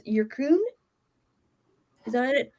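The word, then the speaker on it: Yyrkoon: So I did pronounce it right. That's fine. Yeah, Irkun. Because it's a double Y.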